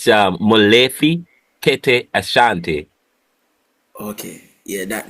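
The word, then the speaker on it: Molefi Kete Asante: Pronounce it. I know the last one is Asante, but Sorry, it's Molefi Kete Ashanti.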